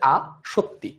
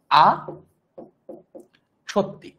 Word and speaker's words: আসক্তি: পাবা তিন সত্যি তো সত্যি যেভাবে উচ্চারণ করি আমাদের আসক্তিটা উচ্চারণ একই আসক্তি লিখবো এভাবে তত সংযুক্ত কিন্তু উচ্চারণ হচ্ছে আ সত্যি ঠিক আছে এইটার উচ্চারণ কেমন হবে এটার উচ্চারণ হচ্ছে আ সত্যি এরকম আর যদি কেউ